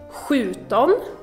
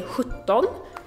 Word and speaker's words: sjutton: Sjuton, but you say sjutton. Sjutton. Seven ton.